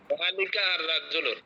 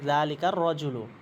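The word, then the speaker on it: ذلك الرجل: জালিকা আর রজুল হবে না, আমরা হুরুফের শামসি কমারি পড়িয়েছিলাম না, যে মিলাই পড়তে হবে। জালিকা এ শব্দ থাকলে আলিফ লাম উচ্চারণ হবে না, বলতে হবে জালিকার রজুলু, জালিকার রজুলু।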